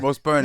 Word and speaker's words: Rose Byrne: Yeah, Rose Byrne yeah, is in she was in X X Men.